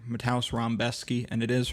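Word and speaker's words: Rębecki: Matau Rambeski and it is Rambeski. I know how it looks, but that's that's how they pronounce it.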